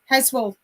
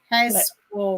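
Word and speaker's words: Heswall: Heswell. Heswell.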